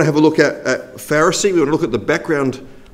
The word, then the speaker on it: Pharisee: Although the first one, my children tell me, doesn't really work because it's pronounced pff. So we could say Pharisee to try and make them all sort of rhyme here.